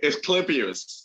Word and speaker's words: Asclepius: We had I had just gotten an honor from the Osteoplicus. I can never pronounce their name. Medical Society. Asclepius.